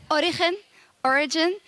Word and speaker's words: Origen: Well, both ways are fine. Okay. Origen is how you say it in Spanish. So you actually say it like if you were a Spanish person. Mm-hmm. But origin is how you would say it if you were not a Spanish but speaker.